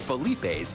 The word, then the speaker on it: Philippe's: 60 to 80 years when it first opened the restaurant was called phelips and time Chang Frenchtown so did the pronunciation but aside from that almost nothing has changed at Felipe's in a 100 years